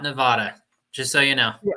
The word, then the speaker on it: Nevada: Rick say it again Nevada it's Nevada Nevada yes it's like uh tomato right no in the dictionary it has the mark over the a to to show that